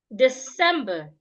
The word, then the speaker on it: December: deposit the money debt December the C in this word sounds like s it's not sounding like Zed December deposit not deposit